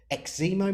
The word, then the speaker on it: Eximo: I'm joined today by the fantastic Andi Jarvis, who is the founder of Eximo Marketing or Eximo Marketing? Both, either. I Both. go Eximo. Some people say Eximo.